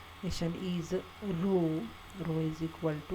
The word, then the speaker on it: rho: to 1 minus 6 p that is just pronounced mission is rho rho is equal to 1 minus 6 and